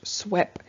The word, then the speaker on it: SWP3: the okr-10 general permit swp-3 is the abbreviation for stormwater pollution prevention plan or pronounced swep it is a custom